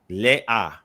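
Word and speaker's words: לאה: Yeah, they would pronounce it le-a. So the aleph contains the short sound, right? So not ha. The ha wouldn't be it. It would be le-a. Correct. So the ha is not vocalized.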